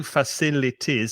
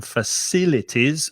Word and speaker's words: facilities: 4 syllables, I can tell you, facilities. So be careful of the pronunciation. Facilities, and stress the second syllable, facilities.